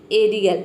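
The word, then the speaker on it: aerial: pronounce करेंगे जैसे कि एरियल यहां पे देखिए ए ई का हो जाएगा ई अ आर आई ए ए ये हो जाएगा रियल पूरा हो जाएगा एरियल एरियल मतलब होता है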